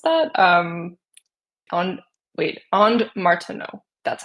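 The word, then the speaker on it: Martenot: I just was googling the and Martina I think is how you pronounce that. Um on wait and Martino that's how you pronounce.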